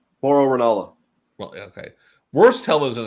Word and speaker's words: Mauro Ranallo: Mario Rinola. Did I say his name right? Mauro Ranallo.